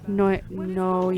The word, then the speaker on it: Noyo: Noyo.